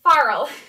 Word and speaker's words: farl: pronounce these things uh it is not feral it's a farl not like the feral cat um so they do